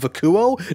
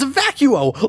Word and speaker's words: Vacuo: sounded at least a little credible as if Ikuo no it's actually pronounced a vacuo like a vacuum and why